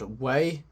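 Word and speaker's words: Wei: game and the story they are called away not a it's not spelled ways in w a y it's spelled w e i and yeah it's pretty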